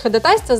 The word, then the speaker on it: ходатайство: Поэтому правильно будет, конечно, ходатайство. Если вы в суде услышите ходатайство, знайте, что это их сленг, пусть говорят, как хотят. А мы будем говорить правильно, как в словаре указано.